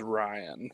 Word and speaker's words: Rion: Rion, you take 6. It is Ryan, by the way. Is it Ryan? I can't fucking pronounce things, dog. No, it's okay. It's spelled weird.